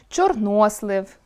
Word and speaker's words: чорнослив: Опрацьовуючи цей ресурс, ми можемо зауважити, що, наприклад, акцентуаційною нормою є чорнОслив, новИй, фаховИй. Будь-яке інше наголошування буде порушенням (анормемою).